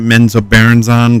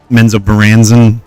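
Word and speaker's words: Menzoberranzan: I always pronounce it Menzo Barons on, but Menzo Baran I guess is the correct ter correct way to say it.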